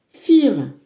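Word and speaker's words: vier: Donc fir, donc ça c'est quatre en allemand qui peut se prononcer donc exactement comme ça aussi. On peut dire nous si le V devient un F, ça fait fire.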